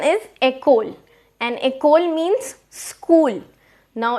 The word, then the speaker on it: école: The pronunciation is école, and école means school.